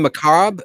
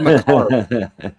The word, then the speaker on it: macabre: So you guys pronounce the R in macabre? You said that's interesting. Maybe we're saying it wrong. It sounded like you said macabre.